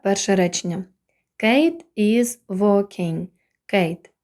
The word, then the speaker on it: Kate: речення Kate is Wing Kate як бачимо відкритий склад на кінці є голосна і але вона не вимовляється і перед нею голосна буде читатися як в алфавіті a тому виходить Kate